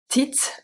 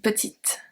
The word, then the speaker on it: petite: The feminine is petite and petite, with the E at the end.